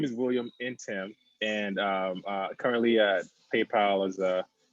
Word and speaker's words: Ntim: Dude, Ntim, so yeah, you said it right. you explained, you pronounce. So if you see him on LinkedIn, it's like saying William and Yeah, Tim.